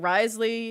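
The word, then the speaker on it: Wriothesley: pronounce his name, too, until I heard Astro call him Risley and I was like, "Oh, that's how you say his name."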